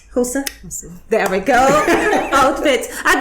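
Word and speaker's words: Xhosa: this is the lovely house say it properly hosa hosa there we go outfit i've been trying to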